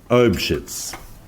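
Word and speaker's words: Eybeschütz: There's different ways of spelling this, but it's basically Eybeschutz. Eybeschutz. It's something along those lines. Eybeschutz, it's usually spelled EU, or it's pronounced Eybeschutz.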